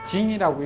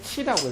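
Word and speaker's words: 徵: 이 궁상각 소리일 때는 그것을 징이라고 읽지 않고 치라고 읽어요. 우로 정 물지 성하고 해서 자 기본적으로 오음계라고 해서 궁상각치 우라고 해서 소리를 5음계로 나누어 놨어요.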